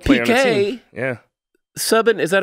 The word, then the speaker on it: Subban: Subban, is that how you say his name?